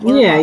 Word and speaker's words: Clermont: Yeah, Clermont.